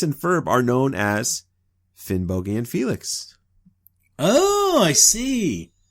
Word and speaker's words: Finnbogi: Now, I know when I say Finn Boi, uh, I'm I'm putting too much emphasis on the O in the second syllable, but but I would say that the hard G that I'm using in uh in Finn Boi is is much closer to the Old Norse than the soft Y uh that you find in the modern Icelandic, right?